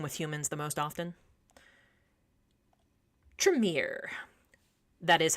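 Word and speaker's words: Tremere: usually um interacting with humans the most often tremier that is how you pronounce it the tremier these guys are actually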